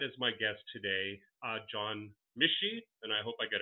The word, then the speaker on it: Michie: Yeah, it's Michie. That's Michie.